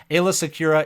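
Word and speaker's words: Aayla Secura: Coming at number 8, Ayla Secura. This is the one that I mispronounced for the longest time. I used to call her Alia, and people used to get so mad. But Ayla Secura is I'm a Gundy with a better leadership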